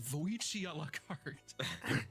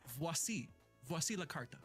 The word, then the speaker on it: Vasilto: Uh where I mistakenly pronounced this card as Voicia. Uh it is Vasi Vasilto. Oh, that does sound more French.